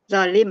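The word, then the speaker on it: ظالم: a bukan o kan zalim misalnya zalim kita membacanya berat bukan o bukan a sebenarnya dibaca benar Oke, simpan Pak Andi tolongnya pakai D ya DZ.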